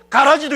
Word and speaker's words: 가라지: 알곡만 있는 게 아니고 가라지도 있다라는 사실이에요. 그라지가 아니고 가라지.